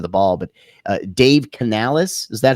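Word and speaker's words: Canales: that side of the ball but uh Dave Canalis is that how you properly pronounce it yes uh he'll be the new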